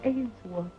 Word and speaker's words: Ainsworth: If you say it right, it's Ainsworth.